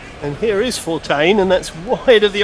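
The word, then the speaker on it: Fortuin: But it looks like it's Bethl facing up to uh how do you pronounce his name? Fortain. Fortain. That's right, John. And here is Fortaine.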